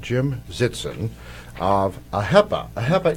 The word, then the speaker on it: AHEPA: Jetson of a HEPA a HEPA is the way to pronounce correctly trooper when did you